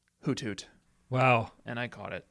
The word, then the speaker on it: Hoothoot: I think we're mispronouncing it. Hoot Thoot. Hoot Hoot. Hoot Thoot. Hoot Hoot. Hoot Thoot. Look at it. HOOTHOOT. Hoot Thoot is an upgrade as well.